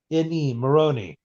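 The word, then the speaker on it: Mirrione: Steve, how do you spell that last name? Maroney? Yes, M-I-R-R-I-O-N-E, Maroney.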